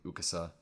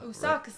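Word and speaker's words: Asakusa: This reminds me of Udon Man from Ukasa. Usakusa. Usakusa, right? That's how you say it.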